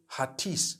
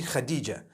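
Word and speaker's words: Hatice: across the name Khadijah in Turkish some people spell it h a t i c e I would say hatis for that no it's actually Khadija in Turkish that's the way they write it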